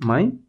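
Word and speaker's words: מים: la que estamos utilizando acá ahí ya tenemos my aguas recordemos que este sonido de yod lo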